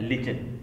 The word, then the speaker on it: lichen: मिलकर बना देते हैं लिचन. आपने स्पेलिंग सुनी होगी, LICHEN, तो लिचन बोल सकते हैं इसको या लिकेन भी. ये जो है ये दो